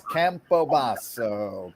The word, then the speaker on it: Campobasso: an Italian tutelage it's campobaso campobasa yes do it with an Italian Flair and you'll always remember